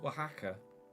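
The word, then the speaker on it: Wahaca: you do it it's pronounced waka waka restaurant what's everyone's go-to Mexican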